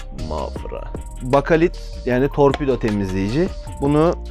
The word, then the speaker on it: Mafra: şöyle yaklaşım size ama olarak telaffuzu yanlış oluyorsa düzeltin benim Afra diye söyledim ama mafra bakalit yani torpido temizleyici